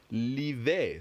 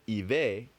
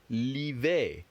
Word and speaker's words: l'hiver: And that's why you have l'hiver. L'hiver. L'hiver. The H is silent.